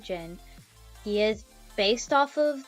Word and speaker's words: Jin: this time Jin, and I know it's probably pronounced several different ways, but I pronounce it Jin.